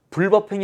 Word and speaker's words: 불법행위: 않나요 어 근데 선생님 강의를 앞으로 계속 들으려면 불법행위 라는 발음에 익숙해지는 게 좋습니다 선생님은 계속 불법행위 라고